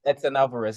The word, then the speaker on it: Edson Alvarez: You have to pronounce it for me. Edson Alvarez, yeah, Edson Alvarez.